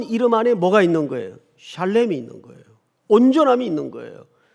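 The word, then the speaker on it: שלם: 여러분, 여기 온전이라는 말이 히브리 말로 무슨 뜻인가, 무슨 발음인가 하면 샬렘입니다. 이게 온전하다는 뜻이에요. 한번 따라서 해볼까요? 샬렘.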